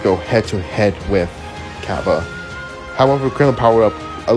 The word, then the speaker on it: Cabba: Then he will fight Cabba.